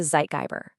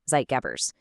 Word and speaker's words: Zeitgeber: And for that, we need to understand a key concept, which is a zeitgeber. Yeah, I know. It's a German word.